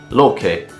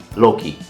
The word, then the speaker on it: Loki: her consort - Loki and it's pronounced "Loke" but for the sake of this video and a better understanding I will keep saying "Loki" Now, Loki is the